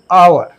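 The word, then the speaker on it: hour: करके एन का प्रयोग, क्योंकि देखिए जब एच साइलेंट हो जाएगा तो इसका जो प्रोनाउंसिएशन होगा हम हा नहीं करेंगे। ठीक है। जैसे हमने लिखा आवर, आवर में तो ये क्या लिखेंगे?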